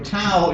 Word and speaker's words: tau: called the towel so tau is equal to 2 pi tau is just another Greek letter which i think is actually pronounced tough but it's we would